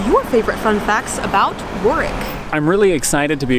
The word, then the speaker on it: Warwick: beautiful sunny town of warwick originally we were pronouncing it war wick but it has been explained to us that the town's true pronunciation is warwick or work the agenda for today